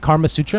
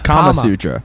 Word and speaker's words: Kama Sutra: Is that how you pronounce it? Karma Sutra? Karma. Kama Sutra.